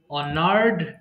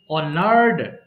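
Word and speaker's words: honored: অনার সম্মান করা, অনার, অনার্ড, অনার্ড। এটাও কিন্তু অনারেড হবে না, অনার্ড।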